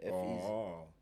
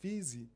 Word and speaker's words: F Eezy: I'm pronouncing the name right. Yeah, F Easy. Because at some point I was like, Feezy. I was like, no ways. F Easy.